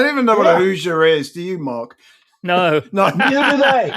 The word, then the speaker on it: Hoosier: Is it if I pronounce it right, which I won't, the Hoosier State? Is that it? Is that it called? Hoosier State. Hoosier That's State. Right. That's it. I don't even know what a Hoosier is.